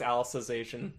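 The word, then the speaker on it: Alicization: named Alice Oh cuz I think it's literally pronounced Alice's ation okay cuz that's the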